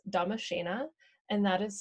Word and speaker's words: Damascena: It's Damashena, and that is spelled DDAMASCENAA.